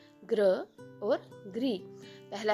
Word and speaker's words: गृह: ये ग्राम है और ये गृह है।